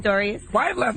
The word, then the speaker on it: Pistorius: And uh Oscar, how do you pronounce his last name? Pistorius.